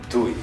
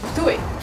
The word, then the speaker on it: Ptuj: think the best way to learn how to pronounce to it is to ask my fellow inhabitants of very easy it's Tooey Tooey Tooey do it durian if you want